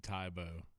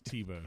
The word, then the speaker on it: Tebow: Don't call Teeb Tybo. Like that's a fight thing. What's dude? I don't. It's Tebow.